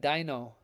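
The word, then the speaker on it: Deino: We got Dino. You can look that up. That's exactly how you say it for the record. At least the book that my daughter reads says it that way.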